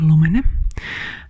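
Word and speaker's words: Lumene: Yeah, in Finland we have this uh beauty brand called uh Lumin. Um you should pron pronounce it like you mean and it's amazing one.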